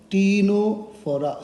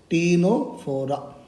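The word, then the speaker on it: Ctenophora: going to talk about phylum tino for c is silent okay tino for that is c walnuts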